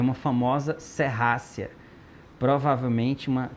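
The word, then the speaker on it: Serratia: Isso aqui é uma famosa serrácia, provavelmente uma tem gente que fala serrátia, não tá errado porque é assim que se escreve mesmo, tá? Mas é uma serrácia.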